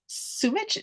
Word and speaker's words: Sumich: So, Sumich.